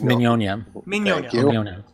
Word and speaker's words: Mignogna: saying his name right is it not Nick no it's Minnie Anya you want to make